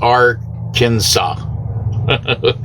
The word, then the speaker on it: Arkansas: So Arkansas is pronounced Arkansas.